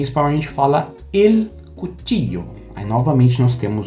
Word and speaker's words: cuchillo: Em algumas regiões como Argentina e Uruguai, a gente tem o LL, né? La E. Você pode ouvir cuticho, cuchillo. Aí depende da região. Eu gosto de pronunciar uma forma um pouco mais neutra com som de i. Cuchillo.